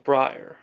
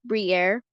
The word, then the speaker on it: Briar: three inch front of breyer should this suffice for damage is done oh no I cannot but by the way it's pronounced Brier oh Brie whatever Brian